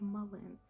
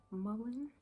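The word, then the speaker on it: mullein: and lower respiratory system this herb is called mullen mullen is spelled u l l e i n okay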